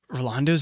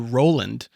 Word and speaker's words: Roland: I've always called you Roland. Yeah. 90% of people do. And it's Roland, like Holland. That's so I'm going to